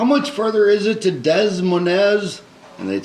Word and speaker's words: Des Moines: pronounced Des Moines. Des Moines.